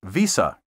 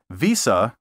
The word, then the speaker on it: Visa: you say Visa or Visa Visa with a hard s sound is incorrect say Visa with a soft s which sounds like a z as in visor and visible